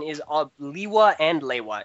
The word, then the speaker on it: Lewa: which wise do you prefer pronouncing Lua as? Is it Lewa, Lewa, or Lua?